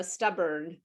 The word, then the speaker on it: stubborn: a i'm close stubborn is a purple word did you know that because it's burn that's the barn yeah uh stubborn because use the stressed